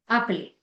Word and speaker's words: appeler: जो ईआर की प्रोनाउंसिएशन आती है वो ए जाती है.